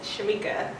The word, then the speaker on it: Shameeka: It's simply Shameeka. Well, not simply, it's Shameeka. Okay. It's spelled with 2 E's, ShameeKA.